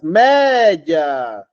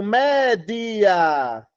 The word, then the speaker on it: média: que a gente faz média eu digo média média então tem quantas sílabas duas aí a regra diz